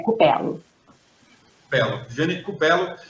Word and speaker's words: Cupello: É Cupelo.